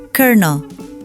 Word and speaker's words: colonel: Tulisannya kolonel, tapi orang Amerika bacanya colonel.